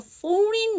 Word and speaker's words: foreign: Leap into the foreign minister ripping into the Biden administration. 자, 여러분 여기 묵음을 갖고 있는 단어를 한번 좀 찾아주실래요? 뭘까요? 그렇죠. foreign에서 G가 묵음이죠. IGN으로 끝나는 단어는 자, G가 묵음이에요.